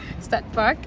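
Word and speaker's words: Stadtpark: That's how to pronounce it. Stad Park.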